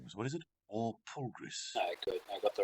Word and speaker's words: Walpurgis: And I've been saying the banquet name wrong. It is Walpurgis. Walpurgis.